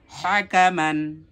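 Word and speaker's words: حَكَمًا: শিখলাম হা মান হা মান এরপরে আমরা একসাথে উচ্চারণ করব হাকামান হাকামান হাকামান পরেরটা দেখি ওয়াও জবর লাম জবর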